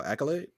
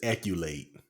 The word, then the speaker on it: accolade: Let me All right, pronounce that word I just sent you. Oh, accolade. He says acculate.